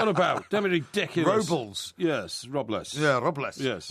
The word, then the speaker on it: Robles: due to Mike Parry not being able to pronounce his own goalkeeper's name properly. What are you on about? Damn it, ridiculous. Robles.